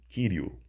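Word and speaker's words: κυρίου: Nós podemos ver aqui que finaliza com um ditongo, com a letra ômicron, sigma, né? Então se pronuncia Kyriou, né?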